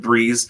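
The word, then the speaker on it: Breece: Uh yeah, it's another Jet and it rhymes with Breeze.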